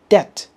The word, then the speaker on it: debt: the pronunciation for example if you don't use dictionary you never know that this word is pronounced says and this word is pronounced debt over a long period of